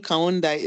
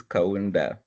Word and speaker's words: Kaunda: okay please go ahead I always call you kundai am I getting the name right kindly unmute and speak and correct me if I get your name wrong hi yes please the name is kaunda all right good thanks